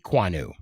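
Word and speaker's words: Ekwonu: It's Akeem Aquanu, or I can't pronounce his name right. The one from NC State. Kwanu.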